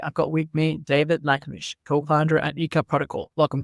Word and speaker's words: Lachmish: it's a Libyan origin surname, so it's Lachmish.